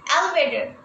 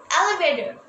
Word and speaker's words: elevator: দেখবে খেয়াল করে টিটা কিন্তু যখন তাড়াতাড়ি বলতে যাব ডি এর মতো উচ্চারণ হবে। elevator, elevator.